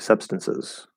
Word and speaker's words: substances: um let's see einstein's is the t silent in the word substances substances it's not silent that's for sure um if they were